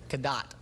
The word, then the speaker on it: Cadott: tears the house up, and I'm from a small town in Wisconsin named Cadott, and that's halfway between the equator and North Pole. Say it again. Cadott.